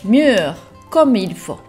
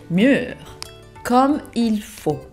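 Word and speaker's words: mûr comme il faut: をご紹介します。C'est mûr comme il faut. C'est mûr comme il faut.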